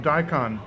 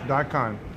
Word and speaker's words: daikon: It's Japanese, they call it daikon. I mean, I don't know how the Japanese pronunciation is, but that's how we say it in English, daikon.